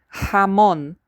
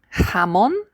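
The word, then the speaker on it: jamón: By the way, hamon ha. The j is always like our h.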